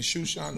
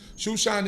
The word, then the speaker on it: Shushan: And this is where most of this history takes place, in Shushan or Susa. Shushan is the way that we pronounce it as Hebrews.